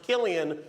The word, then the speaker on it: Cillian: Interesting fact about his name, it's pronounced Killian when he does drama. When he does comedy, it's Cillian.